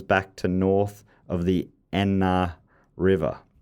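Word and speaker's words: Aisne: to north of the Enna River. I had to look up how to pronounce that because it's written Asni.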